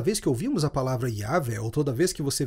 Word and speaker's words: Yahweh: bíblia em português mas o hebraico seria pronunciado como Yah e é formado com base na palavra para eu sou assim cada vez que ouvimos a palavra yav ou toda vez que